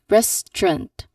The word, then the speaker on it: restaurant: We've got only two syllables, not three syllables.